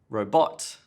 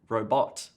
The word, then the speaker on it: robot: that next problem is stress in the wrong place like robot Bill Gates developed a new robot now what oh you mean a robot not a robot what about fantastic fantastic